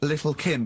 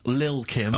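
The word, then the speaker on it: Lil' Kim: it's a track by Little Kim but how are you pronouncing it I'm pronouncing that correctly Lil Kim oh no T's involved and it's the jump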